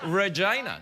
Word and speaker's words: Regina: Don't you mean Regina? That's not how it's pronounced. How is it pronounced? Regina. That's how they pronounce it.